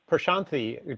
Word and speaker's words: Prashanthi: thank you sir Thank You Lance how about Prashanthi do you want to go next to my I hope I'm pronouncing your name at least a little bit